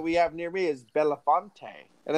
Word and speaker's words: Belafonte: The one fun one that we have near me is Belafonte. And it's like, no, it's Belfont. No, it's Belafonte. Look at it. Like, it's right there.